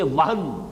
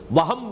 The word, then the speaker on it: وہن: بہت مرتبہ آئی ہے، صرف نوٹ کر لیجئے، وہن، ویسے یہ کہ تلفظ میں وہم جو ہے میم کے ساتھ، یہ چونکہ ہمارے ہاں عام طور پر لفظ استعمال ہوتا ہے، آپ کو مغالطہ نہ ہو، یہ نون کے ساتھ ہے وہن، اور وہن ہی سے